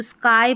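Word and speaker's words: sky: मैंने बोला जब भी लास्ट में जो वाई रहेगा छोटी स्पेलिंग्स के आई ही पढ़ा जाता है अधिकतर, तो स्काई पढ़ा, नहीं तो बड़ी स्पेलिंग्स में वाई को ई पढ़ा जाता है। यहाँ स्काई हो गया आकाश, एस के को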